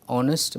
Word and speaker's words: honest: a or an honest it's an honest because her is silent here choice of will or